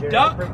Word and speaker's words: DUKW: can say it faster if you read the word and it was spelled d-u-k-w how would you pronounce that word this truck goes in the water the name duck is a coincidence it